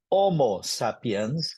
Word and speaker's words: homo sapiens: as and kuuse okay H is barely pronounced so so homo sapiens is how you correctly pronounce the word the that term you